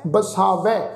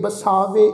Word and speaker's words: बसावै: शब्द आ जी जग जीवै, फिर हृदय बसावै, इनू हृदय बसावे इस ढंग नाल उच्चारण नहीं करना।